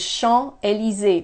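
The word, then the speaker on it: Champs-Élysées: have the bigger ones Sean a li Zi notice I don't pronounce the S at the end I don't pronounce that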